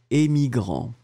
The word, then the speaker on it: émigrant: Le A, E, émigrant. D'accord ? Émigrant.